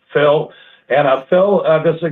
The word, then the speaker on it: Phil: Well, I have to introduce the new guy because he actually has a one-syllable name, and I can remember it. It's not like Ross did Phil. It's Phil.